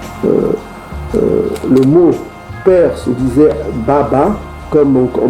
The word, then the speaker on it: baba: L'ancien hébreu, le mot père se disait Baba, comme on prononce encore en Swahili.